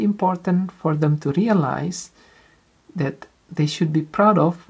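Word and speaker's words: ث: important to make sure that your children can pronounce it perfectly, this letter. It's tha, not sa, or other pronunciation. It should be tha, perfect.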